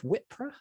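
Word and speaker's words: Wippra: 5th cool uh and the plague doctor of wipra I think that's how you say it yeah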